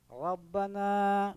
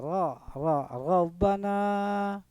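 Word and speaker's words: رَبَّنَا: Nah, ra-nya itu ra-nya bacanya tafhim. Jadi agak sedikit tebal lah dibanding dengan ra yang di kasrah. Rabbana begitu bacanya, Rabbana.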